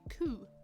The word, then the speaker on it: coup: The P is silent. Okay, coup.